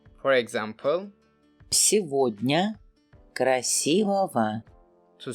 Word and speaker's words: Сегодня: When you see Иго. or Ого. in a word, for the most of the time, letter G in between will be pronounced as V. For example, Сегодня.